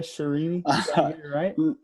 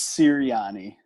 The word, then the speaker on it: Sirianni: it by the way serene no it's siriani like the colts offensive coordinator he's nick siriani